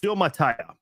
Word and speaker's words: Suamataia: And this year, just moments ago in the 2nd round, they drafted from BYU left tackle Kingsley Suamataia. That's how you say it, Suamataia.